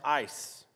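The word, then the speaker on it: εἰς: press on toward untoward in greek is spelled e-i-s which is pronounced ice so diego ice in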